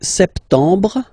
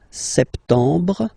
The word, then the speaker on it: septembre: So septembre, septembre. Remember this EM en septembre. You don't insist on the final E.